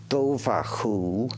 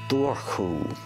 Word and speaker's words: Dobhar-chú: the banks for centuries you can pronounce it doaku or Duru in Ireland the earliest